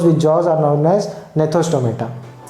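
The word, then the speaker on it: gnathostomata: They are known as agnatha, whereas some are with jaws, and those with jaws are known as gnethostomata. G is silent in both the words.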